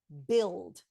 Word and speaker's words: build: think about the word build bu u i l d why is there a u in that word we're pronouncing b i l d the reason why there's